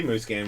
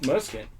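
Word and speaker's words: Musquin: Anderson, Tomac, and I think Muskin. Yep. Right? I think it's pronounced Mooscan.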